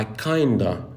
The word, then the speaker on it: kind of: بس خدت بالك من النطق، هو ما قالش I kind of كده ما قطعهاش، هو قال I kinda like the last pound. فكلمة I kind of بقت كده I kinda وكأنها مكتوبة كده.